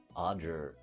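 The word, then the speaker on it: Ojer: Oger? I don't know how to say it. OJ-er? Odger? Odger. Yo, it's an Odger, like a badger.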